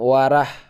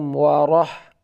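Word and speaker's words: ورحمة الله: memberi memberi Salam Assalamualaikum Warahmatullahi Rah bukan warah warah warah agak tebal warah warah agak sedikit monyong tapi bukan terlalu monyong ya ya Assalamualaikum Warahmatullahi warahmatullahi wabarakatuh wabarakatuh roh-roh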